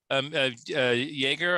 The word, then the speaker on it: Jaeger: Jaeger, I guess it's pronounced. It's just JAEGER.